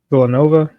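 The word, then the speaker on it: Denis Villeneuve: All right, this is from Jos Wilding um with Doom director Dennis Villanova, and that's how you say his name, at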